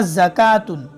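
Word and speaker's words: زكاة: इसी तरह ज़कातुन, हयातुन, हयातिन, तो देखो वाव नहीं पढ़ा गया।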